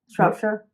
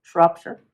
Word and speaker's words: Shropshire: How do you pronounce that? Whitchurch? No, the... Shropshire? What? Shropshire? Shropshire? Shropshire. Not Shire? No, not Shire.